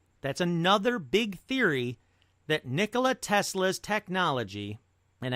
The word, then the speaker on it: Nikola: That's another big theory, that Nikola Tesla's technology, and I did just mispronounce it, Nikolai, it's Nikola, that Nikola Tesla's technology might be responsible for the Mandela Effect.